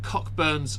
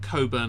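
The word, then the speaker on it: Cockburn's: go I've gone with cockburns Special Reserve or Co burn it's meant to be called but it's spelled bur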